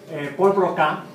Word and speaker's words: Paul Broca: Paul Broca, se debe pronunciar así porque era francés, fue un fisiólogo francés que vivió en la época de la Revolución Francesa.